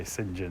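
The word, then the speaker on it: St John: vicar oh yeah and he's trying to pronounce sinjan oh yeah it went down in our family anyway something would repeat a lot people especially americans are just really upset about the idea that you say sinjin instead of saint john which you know on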